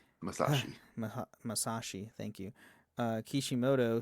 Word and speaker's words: Masashi: We have uh Ma Masha Masashi Masashi.